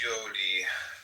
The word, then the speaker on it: Yod: Comment on yod y or pronounced yodi transcribed as y.